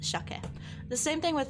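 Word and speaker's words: 鮭: It's not sucket. It is in fact shake. Um, even though it is written as sake, it is pronounced shake.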